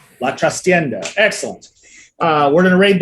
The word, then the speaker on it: La Trastienda: If either Miss Jessica or Robo would like to look in the Discord and tell me how to properly pronounce that. La Trastienda. La Trastienda.